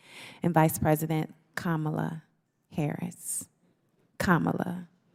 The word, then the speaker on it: Kamala: Kamala, like the pronunciation.